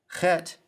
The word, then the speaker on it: chet: Chet sounds like the CH in the German word Bach, pronounced back in the throat with the guttural sound.